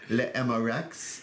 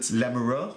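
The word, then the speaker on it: L'Amoureux: looking at the lover emma rex there's just there's no x the x is silent so it's la mero that's better that's better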